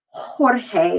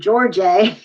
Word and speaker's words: Jorge: don't say hola okay the j actually makes the or the hota rather makes the ha sound think of your names like juan and jorge and jose and let's get some girls in there juliana and josefina they're not going to be jose and georgie and juwan you get the point